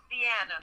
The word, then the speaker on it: Deanna: And this is the first time that I mentioned Deanna, and I didn't say, I'm sorry, do you pronounce it Dina or Deanna? Deanna.